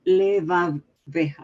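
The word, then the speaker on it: לבבך: In the word levavecha, no, levavecha, right? Is that how you say it? Right. Why is it sounds like a vav of V as in Victor and not like a bet as in boy?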